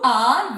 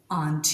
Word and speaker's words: aren't: you are very brave aren't you so it's a question tag so keep in mind whenever you're pronouncing it most important thing in British English it is pronounced as AR not aren I hope the pronunciation